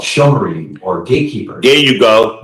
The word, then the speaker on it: Shomrim: It's pronounced Shomrim.